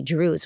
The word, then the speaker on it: Druze: it like to be Drews what do you believe in by the way it sounds like Jews but it's not Jews it's Drews right it Rhymes and you speak Arabic